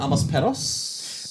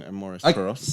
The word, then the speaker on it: Amores Perros: Amos Perros? In all honesty, yeah, I think I'm saying it wrong. Amores Perros.